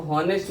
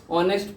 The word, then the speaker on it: honest: जैसे हम लोग बोलते हैं हॉनेस्ट, HONEST, इसको हॉनेस्ट न पढ़ के हम लोग क्या पढ़ते हैं, ऑनेस्ट पढ़ते हैं।